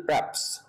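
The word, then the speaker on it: perhaps: ইউ ওয়াজ প্র্যাপস পারহ্যাপস সাধারণত এভাবে কেউ বলে না আমরা উচ্চারণটা করি প্র্যাপস ধন্যবাদ আপনাকে সম্ভবত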